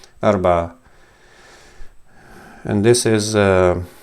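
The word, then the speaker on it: أربعة: This is forgive me, Arba'a. So I can't represent this ayn in English, but it's closely something like this. Arba'a.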